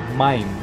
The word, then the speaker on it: maim: Agua se dice maim.